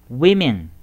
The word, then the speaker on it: women: 男の所からやめん麺 woman women これちょっと発音注意ねこれ vbd いってを